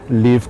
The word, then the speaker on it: Lyvv: Victoria has worked with brands like Apple, L'Oreal, and she gave up all that to start her own business, Lyvv Cosmetics.